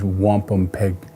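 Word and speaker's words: wampumpeag: Uh the true Algangquin pronunciation is wampom peg pg was taking off the end of our pronunciation and shortened to the word wampam which means white shell.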